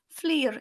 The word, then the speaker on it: Fflur: D L and then flu is double f l r Fleer is how it should be said but everyone just says